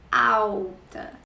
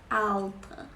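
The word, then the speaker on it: alta: physical characteristics so out is tall sometimes we pronounce the letter l l s u u so out okay it's not Al no out that means tall and it ends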